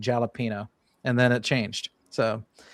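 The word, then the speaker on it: jalapeño: school would talk about jalapeno peppers and jalapeno flavored stuff. And then when I got into like high school, someone corrected me and said it was jalapeno.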